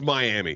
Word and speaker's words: Miami: All right, I don't expect you to get everything right, but it's Miami, motherfucker. All right, I'm from Florida. I know how we pronounce it, motherfucker.